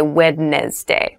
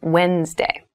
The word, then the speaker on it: Wednesday: a d there but we don't say wedness day we say Wednesday Wednesday the 18th Wednesday